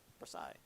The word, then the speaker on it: Versailles: Yeah, Versailles. It's French, so you don't pronounce most of it.